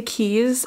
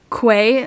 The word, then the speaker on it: Quay: whole collection of quays i think that's how you pronounce him a lot of people say keys i just don't even know people who have like collabed with koi like say it that way too so i just really